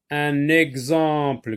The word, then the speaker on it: exemple: Un exemple. Gz, gz, ici.